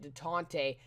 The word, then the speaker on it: Détente: I think that's how you pronounce it, Détente, after all.